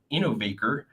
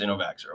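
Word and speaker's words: Innovaccer: this company called innovate innovaker and it's spelled i-n-n-o-v-a-c-c-e-r and I don't believe it's innovaxer okay so again they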